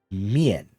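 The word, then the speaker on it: 面: So this character is pronounced mian, right?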